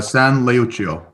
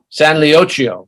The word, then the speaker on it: San Leucio: pronounced it right Jay so if you can pronounce it correctly for the audience I'd appreciate it yeah no worries uh San leuchio San leochio Society right and this was a a saint